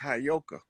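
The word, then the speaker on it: Heyoka: like I know you that that word is properly pronounced hyoka the hyoka is the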